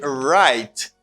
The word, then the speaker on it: write: what but unfortunately this this w this letter doesn't pronounce and you have r you have a letter r and this r doesn't pronounce like french r elsa you say right because you got r